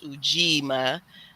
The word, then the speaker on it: Ujima: I taught myself is it rhymes with three so it's ujima so because the fourth